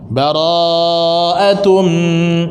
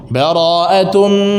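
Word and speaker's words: بَرَاءَةٌ: Panjang rohnya. Bara'atum, dipanjangin rohnya oleh Rasul kita sallallahu alaihi ketika membacanya. Jadi ada sahabat yang baca dipendekkan rohnya. Bara'atum minallahi wa rasulih. Dibaca pendek sama dia.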